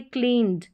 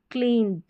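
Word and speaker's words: cleaned: ये है क्लीन्ड, क्लीन्ड, ड साउंड।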